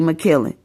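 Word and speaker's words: Makiling: M A K I L I N G, and how you would say my name in the Philippines will be McKillen.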